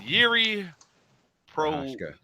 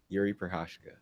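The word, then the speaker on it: Jiří Procházka: Is Yuri Prohashka. Huh? Yuri Prohashka.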